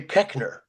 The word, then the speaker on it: Koechner: And nowhere in the English language does an OE make a short E sound. Yeah. So I'm puzzled why they changed it to Koechner.